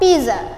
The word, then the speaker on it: pizza: Kalau dalam bahasa Indonesia pizza, pizza, pizza, dalam bahasa Inggris kita baca pizza. Apa? Pizza. Yes, tanpa huruf T ya.